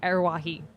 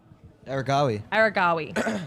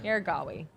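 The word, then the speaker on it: Aregawi: World lead, meet record, personal best from Arawahi. Can you pronounce that for me? Aragawi. Aragawi.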